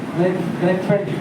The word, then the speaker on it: Grynfeltt: क्या है, क्या हो सकता है इसका प्रोनाउंसिएशन? GRYNFELTT। ग्रीनफील्ड, ग्रीनफील्ड बोलो ना सीधा, ग्रीनफील्ड, ग्रीनफील्ड, ग्रीनफील्ड।